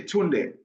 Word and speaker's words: Tunde: Just say Tunde.